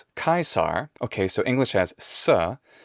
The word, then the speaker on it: Caesar: it's not the same so already now we have kaisa and then finally perhaps the most obvious part is my native pronunciation of english general american and rp don't have the ra sound so it's not going to be kaisar but it'll be kaisa if it's british or kaisar if it's american or whatever variations